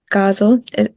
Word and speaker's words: ghazal: I hadn't discovered it before, but um it's called the ghazal.